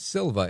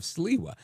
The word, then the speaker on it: Sliwa: And most people don't know how to say Curtis's last name, and it's often mispronounced as Silva instead of Siwa.